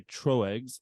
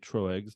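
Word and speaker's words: Tröegs: Mad elf it is brewed by troex located I think that's how you say it true eggs uh located in Pennsylvania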